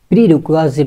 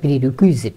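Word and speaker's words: prerequisite: চলে যাচ্ছি, সেটি হচ্ছে প্রিরিকোয়াজিট বলতে একটি শব্দ আছে, এটার উচ্চারণটা প্রিরিকুইজিট না প্রিরিকোয়াজিট।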